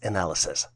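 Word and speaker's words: analyses: The plural version for analysis is spelled as A-N-A-L-Y-S-E-S and is pronounced as analysis.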